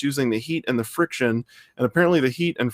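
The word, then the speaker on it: FriXion: the the pilot uh friction fri xion because they want to spell it cool the pilot friction pins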